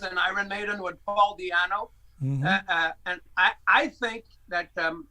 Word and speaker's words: Di'Anno: So I have the first two album, Killers and Iron Maiden, with Paul Di'Anno. Mm-hmm. And I think that Paul Di'Anno, is that how you pronounce it in English? Yeah. Paul Di'Anno, yeah.